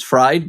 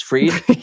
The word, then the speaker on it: Fried: And Sierra, a lot of people spell my name for some reason, and they pronounce my last name as fried, but it's freed.